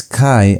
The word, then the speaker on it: chi: It's kai as in the word chemical.